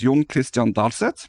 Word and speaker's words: John-Kristian Dalseth: And can we have your full name as well, so I don't mispronounce it? Yes. My name is John-Kristian Dalseth.